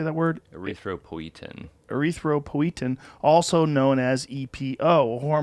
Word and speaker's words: Erythropoietin: Erythropoietin.